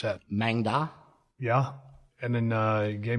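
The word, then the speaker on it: Maeng Da: What is the difference between I've got them, how do you pronounce that? Mangda.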